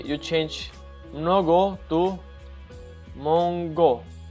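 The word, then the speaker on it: много: We have the word mnogo, which is actually the same word in Bulgarian, not mongo, mnogo, which means in Russian it means many or a lot.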